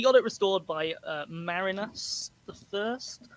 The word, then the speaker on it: Marinus: it restored by uh marinus the first i thought it was marius but it's spelt m-a-r-i-n-s so it's marinus marinus uh there were two more